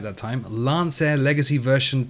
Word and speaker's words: Lancair: this little beauty is the real air simulations Lance air see I said it right that time Lance air Legacy version 2 and I cannot wait to